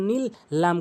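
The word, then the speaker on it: دِينِ اللَّهِ: পুর করেও বলি এখানে নিয়ম রয়েছে আল্লাহ শব্দ ডানদিকে জের হইলে লা বলতে হবে নিল্লা নিল্লা নিল্লা অবশ্যই বুঝতে পেরেছেন হাজের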